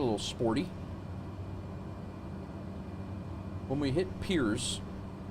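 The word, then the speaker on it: Pierre: sporty when we hit peers or pears as it's spelled um we're only going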